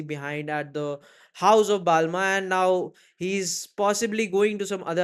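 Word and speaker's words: Balmain: उस way में समझ लो, but the correct pronunciation is Balma, right?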